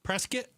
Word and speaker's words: Prescott: Uh, is it Prescott or Prescuit? Prescuit like biscuit. Prescuit. That's what people up there. I learned that from from locals. Yeah. Prescuit like biscuit.